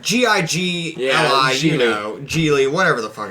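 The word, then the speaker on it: Gigli: Giggly or whatever, however it's Giggly. pronounced. G-I-G-L-I, Yeah, you know, Geely, whatever the fuck it's called.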